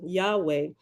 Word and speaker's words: Yahweh: touch of graminson now Yahweh is the usual pronunciation Yahweh the tetragrammatin described above